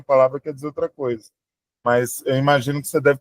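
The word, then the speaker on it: 妈: São duas palavras com a mesma sílaba, mesma consoante e vogal, mas eu estou falando ela em entonação diferente. Quando eu falo ma, está em primeiro tom e significa mãe.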